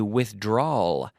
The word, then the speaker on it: withdrawal: in an L withdrawal so almost the same word but with an L I have to make a withdrawal ending in an L it's a subtle difference in terms of pronunciation but this is the